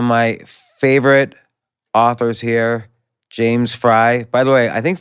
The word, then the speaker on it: Frey: said fry without taking out the E he just eventually gave up trying to correct them so I was raised with it as fry even though we all knew it was supposed to be pronounced fry so I don't really give a which way it's pronounced okay well I'm gonna